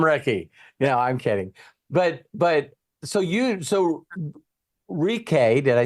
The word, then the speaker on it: Rike: So it's pronounced Rike Rivera. there, Ricky. We'll call him Ricky. I'm kidding. But so Rike, did I say it right?